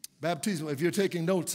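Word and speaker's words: baptizo: The word baptized here comes from a Greek word that we often reference, and is the word baptismo. Baptismo, if you're taking notes, it's spelled B-A-P-T-I-Z-O, baptismo.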